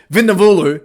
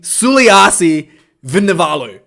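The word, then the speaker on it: Suliasi Vunivalu: matter with the sweetest name in the world vennavulu vinovalu v let me say it correctly the guy with the sweetest name in rugby sulivasi suliyasi vinovalu okay the superman gets the ball he's just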